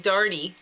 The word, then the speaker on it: Doherty: I thought he was saying Party Darty, like D-A-R-D-Y. But it's Doherty. Party. But he says it like Darty.